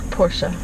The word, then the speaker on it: Porsche: who makes this car Porsche that's right two syllables Porsche Paul oh I